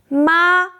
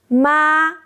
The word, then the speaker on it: mā: Start high, stay flat, just like the doctor's ah we talked about. Now, let's practice together. Follow me closely. Practice 1 for the first tone. First, I will say ma and hold it for 2 seconds.